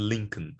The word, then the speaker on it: Lincoln: goal okay now the l is not pronounced in these words these words it's silent right so there's no hell for kell for talk or the uh the modal verbs would the cool there's no l there they're pronounced half cap talk chalk would could should bomb palm calm salmon and lincoln okay no no l pronounced